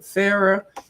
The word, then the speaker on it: Farah: to spell it like pronounce it like Farah faucet Farah and Al Aldridge I